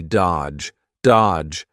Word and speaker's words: dodge: Notice here the D is silent, the middle D, dodge, dodge his calls forever.